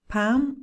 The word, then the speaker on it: palm: l walk and talk there is no l in could pam or walk it's difficult because you see the l and you want to pronounce it but no it's not there at all okay another one that